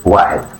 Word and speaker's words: واحد: It is pronounced واحد.